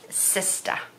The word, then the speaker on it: sista: she's my sister and notice the way I said sista it is spelled sis ta and that is the way we say sister in Rhode Island I like it so